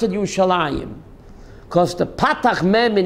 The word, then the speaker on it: Yerushalayim: I in it's written your solemn and we pronounce it you shall Anjum because the park man in Hebrew you'd man